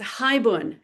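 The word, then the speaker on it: haibun: It's hibun and that's spelled h a i bun n and it dates back to 17th 18th century.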